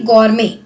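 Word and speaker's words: gourmet: संजीव कपूर जानते हैं, शेफ हैं हमारे, बहुत ही फेमस इंडिया के शेफ हैं, तो वो है बेसिकली गॉर्मे, टी साइलेंट होता है यहाँ पे, ठीक है।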